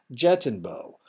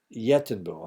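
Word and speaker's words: jeitinho: complex sociocultural strategy termed jettin Bo by which yenbo I'm sorry the J is pronounced as as a y by which people manipulate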